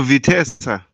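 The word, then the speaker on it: Vitesse: and him is that is that it no vitessa vesa is how you pronounce it okay when he return I don't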